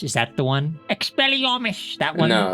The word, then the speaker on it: Expelliarmus: curse wouldn't you agree is the killing curse expelliomish is that the one Expelliarmus that one no it's a Vatican to everyone